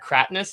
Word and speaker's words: Cratinus: Um, Krat, was it is it Katrness?